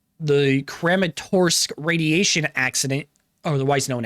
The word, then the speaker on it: Kramatorsk: This is the true story of the radiological accident in Crematurk. Crerematorsque. Okay, that's how you pronounce it then.